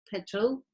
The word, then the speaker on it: petrol: from petrol petrol so the e sounds like e like when you say bird petrol as you can see this schwa is the second one here in the this schwa is like inverted and the schwa is very relaxed it happens because it has to happen between the r and the l there is a thunder but you don't make any effort okay so petrol and